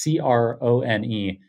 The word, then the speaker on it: Krohn: It's Crone. And I feel like there's no ambiguity about how to pronounce that. But everyone, seemingly half the people that I meet for the first time want my name to rhyme.